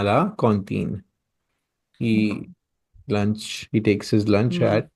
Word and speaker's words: cantine: Cantine. C-O-N. Cantine. The pronunciation is cantine, but the spelling is same as in English.